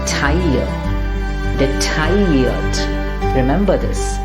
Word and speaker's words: detailliert: Now here, the double L is not going to be pronounced at all. It is not detailliert. We hear so many people spelling out this, pronouncing this incorrectly. It's not detailliert at all. Rather, it's detailliert. Detailliert. Because that LL just becomes like a ear in French.